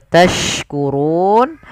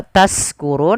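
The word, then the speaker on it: تشكرون: Kemudian pada lafal tashkurun, hati-hati teman-teman, jangan mengganti huruf shin dengan huruf sin. Ini berbeda jauh sekali. Kalau kita ganti nanti maknanya berubah. Contoh tashkurun artinya bersyukur. Kalau taskurun artinya mabuk dan yang semisalnya.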